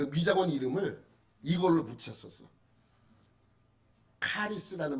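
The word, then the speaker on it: χάρις: 미장원 이름을 이걸로 붙였어 카리스는 말 들어보셨어요 카리스 헬라어로 은혜라는 말은 카리스 카리스 카리스는 거꾸로 읽지 않아요 똑같이 우리랑 우리처럼 읽어요 카리스 응 x 자가 기역으로 발음해서 카리스 이렇게 읽습니다 근데이 카리스 안에도 은혜라고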